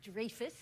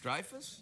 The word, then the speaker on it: Dreyfus: name Julia Louie Dreyfus it's not Dreyfus where is it the Dreyfus Dreyfus yeah like drive a car but Dreyfus Oh Dreyfus really welcome